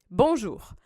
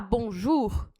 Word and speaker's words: bonjour: O jour tem aqui essa junção da letra O com a letra U do francês. Então, toda vez que você tiver essa junção, O com U, você vai pronunciar como U de uva. Então, essas duas letras formam um som só, que é o som de U.